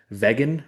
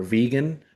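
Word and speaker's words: Vegyn: know if you guys have heard of uh Vegan or Vegan. It's spelled like V E G Y N.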